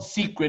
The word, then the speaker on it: Seacret: So our company called Seacret is not like a hush-hush secret. It's spelled S-E-A-C-R-E-T.